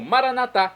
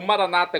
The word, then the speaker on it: Maranata: e agora eu clamo maranat como dizemos nós católicos ou Maranata como dizem nossos irmãos separados os evangélicos ou protestantes não importa pronúncia o significado é o